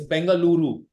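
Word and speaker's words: Bengaluru: is it sounds amazing so it's bangaluru not B for future references coming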